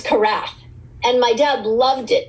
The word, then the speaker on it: Karath: No, it's Karath.